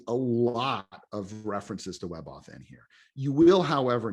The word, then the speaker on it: WebAuthn: more focus lately on WebAuthn. So WebAuthn, maybe you could pronounce it WebAuthn if you wanted to kind of slur it all together.